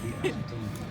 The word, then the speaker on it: Fieri: Because you know how to pronounce his name and I don't. Fieri.